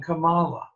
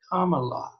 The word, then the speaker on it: Kamala: He was saying Kamala, and the person he was talking to corrected him. It's comma, like the punctuation mark, he told Tucker, and la at the end, Kamala.